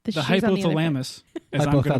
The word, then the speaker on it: hypothalamus: Sensory cortex, the hippocampus, amygdala, and then ultimately the hypothalamus to scare the ever-loving crap out of you. I think it's hypothalamus. Hypothalamus. Wrong syllable. That's what I said. No, you didn't.